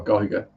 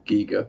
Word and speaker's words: Giger: weren't influenced by HR Giga or Giga whichever way you pronounce it I've seen documentaries about his work and like people are talking to each other one's calling G one's calling Giger and they're not arguing